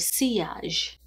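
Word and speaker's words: Sillage: I received the Signature Collection from House of seage that's how you say it in French I thought it was cage but the L's are wise okay so House of seage sent this to me and I have been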